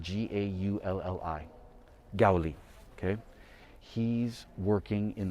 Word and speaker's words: Gaulli: And the Baroque artist here that I wanted to show you specifically is Gaulli, and he is spelled G-A-U-L-L-I, Gaulli, okay?